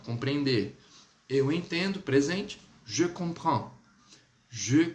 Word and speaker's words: comprends: Lembre-se, o R ele é bem rasgado, sempre muito rasgado no francês. Então, você tem que colocar assim, ó. Comprends. Se você tiver dificuldade de pronunciar esse prend, fale assim, ó. Je comprends. Ele já vai conseguir te